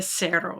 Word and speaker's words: cero: It's very close. Pronounced just a little bit different. Yes, it's a cero. It kind of sounds like an S at the beginning.